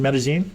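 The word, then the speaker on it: Medellín: in medene Columbia medine medene that's how you pronounce it medene okay Y and uh you know what uh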